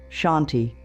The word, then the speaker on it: Shanti: The N should hum a little in your nose. Try it now. Shanti. Feel how it naturally calms your breathing? That's how you know you're saying it right.